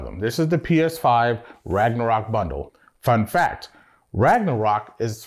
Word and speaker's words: Ragnarok: Also, Ragnarok is not pronounced that way. It's pronounced Ragnarok. You gotta roll those R's.